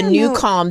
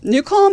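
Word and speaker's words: Nucalm: love Seinfeld but I it's not like the new Cal that we use to fall asleep to so I will say new Cal has proven to be better no disrespect to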